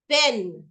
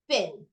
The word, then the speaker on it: thin: but that's wrong okay you put it in between your teeth so that you can say thin okay got it the